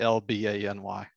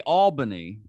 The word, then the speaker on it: Albany: Albany. Oh, okay. So it's, I say Albany. Me too. Okay, it some people say Albany though, right? I don't like that. And I've never said it that way.